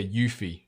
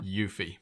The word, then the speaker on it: Yuffie: us all it's yeah yuffie is how you pronounce it so I think you nailed it yeah yuffie but um yeah there